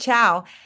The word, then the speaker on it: Chau: And Chow, which I thought was freaking Vietnamese, and now I learned it's like Malaysian too.